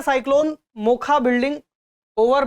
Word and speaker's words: Mocha: दिया हुआ है MOCHA, लेकिन इसको बोला जा रहा है मोखा, यानी इसका हमें प्रोनाउंस करना है मोखा।